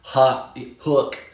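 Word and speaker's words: Huk: Gabrielle says Huck is pronounced Hook.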